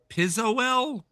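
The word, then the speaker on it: Pizowl: I I forget I How do you pronounce the the film reviewer and blogger's name? Pisol.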